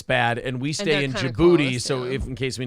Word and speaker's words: Djibouti: named DJ Booty's house that was not it's Djibouti Djibouti is the most fun name of all